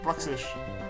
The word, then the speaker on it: Bruxish: Bruxish, that's how you say it.